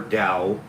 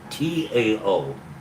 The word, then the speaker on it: Tao: The Chinese character for Dao is pronounced d o w dao. It's spelled t ao.